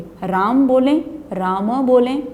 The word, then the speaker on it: राम: बोलना चाहिए राम एम बोलने के बाद होंठ खोलेंगे जिससे अन की ध्वनि बाहर निकलेगी और वर्ण और उसे शब्द का उच्चारण सही होगा अब दोनों सुनिए राम यह गलत राम होंठ खुले तो मौत